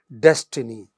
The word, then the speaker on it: destiny: So, for example, in the first line, destiny, it is stressed on the initial syllable.